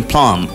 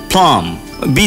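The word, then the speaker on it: plumbing: এল ইউ এম বি প্লাম বি ছিল না তখন উচ্চারণে বি ছিল না এই জন্য আপনি যখন এটাকে প্লামবিং করবেন আইনজি তখন ওই বটা বলা যাবে না বলতে হবে প্লামিং অথবা প্লাম প্লামার ঠিক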